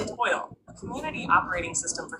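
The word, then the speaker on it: TOYL: Time of your life. Pronounced toil.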